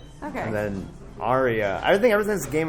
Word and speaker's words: Arya: Because it's like Arya. Yeah, that's exactly how you say it. That's exactly. Well, that's even different. That's a third pronunciation. There's Arya, Arya, yeah. But you know, what Andrea. Aria, like in music, Aria. Later, guys. Yeah. It's like the same. It's like the same as that, pretty much.